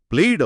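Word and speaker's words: played: అలాగే ప్లే, ఇక్కడ వై ఒక అచ్చు శబ్దాన్నిస్తుంది. అన్ని అచ్చులు వాయిస్డ్ కాబట్టి ఇది ప్లేయిడ్ అవుతుంది, ప్లేయిట్ అని కాదు.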